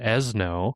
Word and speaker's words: Ezno: really cool, this is called Ezno, pronounced Fresno but with the EZ.